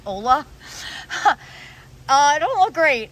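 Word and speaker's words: olla: so up here my i think maybe it's supposed to be said oya pot i totally don't know how to say it o-l-l-a i called it ola uh i don't look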